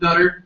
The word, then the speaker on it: Nutter: top you're winner my my name is pronounced Nutter Nutter oh God yeah thank you